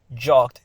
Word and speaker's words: jogged: Though all of these end in ed, but they're pronounced differently. Walked is t, it's walked. Jogged is jogged, and padded, it's ed.